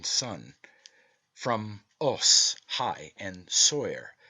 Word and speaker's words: soir: Therefore we have the heavenly wolf Osiris, meaning the high eastern sun, from os, high, and soir, pronounced seer, and meaning east, hence the morning sun.